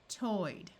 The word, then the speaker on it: toyed: AY says A. Played, prayed. OY says oi, toyed. Again, if the word ends in any of these sounds, ED is going to be pronounced as D.